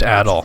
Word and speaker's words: Adol: It's pronounced Adol. You've made it to this lofty point.